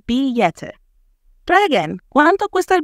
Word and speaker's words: billete: 2, the word is billete with E, which is pronounced somewhat like a Y in Spanish. So it would sound like billete.